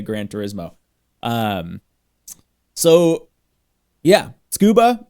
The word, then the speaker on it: Tsukuba: people pronounce it like sucaba or or you know any other way um the the roughly correct way to pronounce it is scuba so I kind of